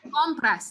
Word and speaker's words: compras: We're gonna say compras. The stress is gonna go right here. I mean, the word only has 2 syllables, but you realize that the first syllable is really the second to last syllable. So the same rule applies.